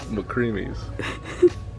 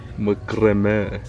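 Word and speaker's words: macramé: What does that say? McCreamies. What do you mean? No, try again. Macrame. I'm saying it right.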